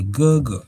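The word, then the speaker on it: 哥哥: If you're new to class, just listen how we pronounce these words and you repeat. So this is elder brother, and say Gogo.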